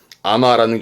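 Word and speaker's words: 海女: 예, 흔히 뭐 제주하면 떠오르는 그런 이미지도 있습니다만은 해녀 발음은 아마라는 전부 다 숙자훈 특별음으로 외워두시는 부분들이 되겠습니다.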